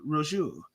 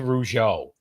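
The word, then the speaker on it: Rougeau: It's Jack and Raymond Rujo.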